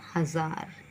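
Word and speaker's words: हज़ार: क्या बन जाएगा मजे हजार और जब नुक्ता लगाएंगे तो इसका उच्चारण होगा हजार और यह नुक्ता यहां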